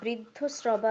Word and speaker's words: বৃদ্ধশ্রবা: আচ্ছা স্যার, এখানে যেটা বৃদ্ধ শ্রবা আছে ওটা কি ব্রিয়ের জায়গায় ব্রু ব্রু উচ্চারণ হবে? স্বস্তি ন ইন্দ্র বৃদ্ধশ্রবা ব্রি নয় ব্রু। ব্রু।